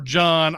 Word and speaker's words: Jean: Our movie opens up on our hero, and it's either Jean or Jean or John. I'm gonna go with John because I don't want to say this French pronunciation all the time.